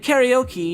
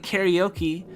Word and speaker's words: karaoke: a way like like karaoke you know people don't people don't pronounce it in japanese like karaoke but like if if